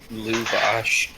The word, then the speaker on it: Lavash: Lavash, L-A-V. Luvush. No. Luvash. Or ASH. Sorry, Luvash. Luvash. Lavash, depending your accent. Depending on how north you are.